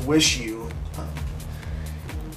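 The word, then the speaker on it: WIXIW: Liars is one of those bands that I never listened to up until late, and their new album, pronounced Wish You, it's apparently very different from their older stuff.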